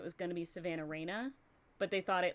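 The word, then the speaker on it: Rayne: So they decided to just switch the E and the A and so it's Savannah Rain, but it's spelled R A Y N E because it's Yeah.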